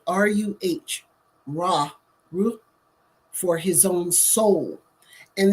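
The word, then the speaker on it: ruh: for his own breath and he uses Raw it's spelled r-u-h raw Rue for his own soul and these are the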